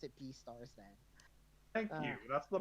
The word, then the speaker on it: Beastars: I'll pronounce it Beastars then.